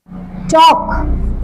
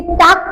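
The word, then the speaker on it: talk: टॉक। इसे टाक कोई नहीं पढ़ेगा, क्या पढ़ते हैं? टॉक। एल साइलेंट रहता है, दैट इज टॉक।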